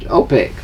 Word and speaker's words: OPEC: is that no no it's pronounced as a word but it's four initials organization okay I'll petroleum open Sporting Good OPEC yes I never knew